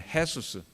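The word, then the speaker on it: Jesús: 이것을 그대로 헬라어로 받아서 이에수스를 영어로 하니까 지저스 J자로 받아서 스페니쉬는 J를 갖다가 H 발음을 하니까 똑같이 JESUS 하지만은 스페인 쪽에서는 헤수스, 중국말로는 야소라고 하는데 그 야소를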